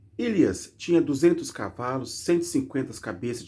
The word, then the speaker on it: Ilias: Elias ou Eliás? Deixa eu pegar uma pronúncia correta aqui que eu tô falando para não falar bobagem. Ilias. Ilias.